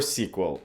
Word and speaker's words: SQL: talking about CVS and SQL or sequel depending whether you're cool or not I pronounce it sequel but for those that